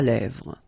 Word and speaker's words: lèvres: Final S not pronounced. Lèvres, okay?